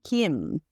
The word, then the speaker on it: Kim: So, and even like Kim, my last name, it's actually Kim in Korean.